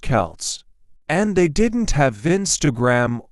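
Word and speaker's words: Celts: These ancient people were called the Kelts, pronounced Kelts, and they didn't have Vince or iPhones.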